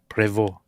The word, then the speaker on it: Prevost: Um, prevo. Are you kidding me? I'm not saying preval. Prevo. That's it.